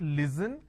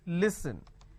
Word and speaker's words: listen: and they say listen it's not listen it's listen even if I add ing it's a ning you are not listening I'm listening to music it's not listening it's listening clear so don't make that